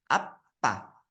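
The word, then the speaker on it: 아빠: Nah, itu dia bacanya apa. Ya, apa. Bedain kalau misalnya yang laki-laki itu opa, kalau yang papa itu apa.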